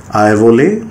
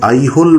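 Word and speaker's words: Aihole: এই আইভোলে হচ্ছে আসলে আইহোল যে শব্দটা সেটারই ওখানকার স্থানীয় কন্নড় উচ্চারণ আইনুরুভার, আইভোলে যেটা বলা হচ্ছে। আমরা স্থানীয় এলাকায় গিয়ে যদি আইহোল বলে কথা বলি তাহলে অনেক সময় কিন্তু ওরা বুঝতে পারবে না। এই আইহোল শব্দটা সম্পূর্ণভাবে ইংরাজিতে ইতিহাস চর্চা করতে গিয়ে এসেছে। অরিজিনাল যে কন্নড় যে উচ্চারণ সেখানে এটা হবে আইভলে।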